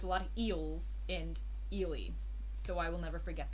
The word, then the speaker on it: Ely: guys always mention, but I remember that ELY is Ely because one of you very helpful people gave the tip that you remember eels. There's a lot of eels in Ely, so I will never forget that.